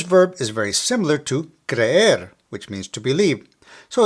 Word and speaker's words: creer: Now as a side note, this verb is very similar to creer, which means to believe. So it's important to be careful when you pronounce each of these because they can completely change the meaning of what you're saying.